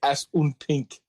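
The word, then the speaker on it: Assunpink: in pink yeah and it's spelled as s s u n p i n k as un pink oh God damn it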